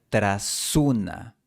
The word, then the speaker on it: tras una: Cuando la vida se pierda En la segunda línea, tras una se pronuncia tras una. La S se une con la siguiente vocal.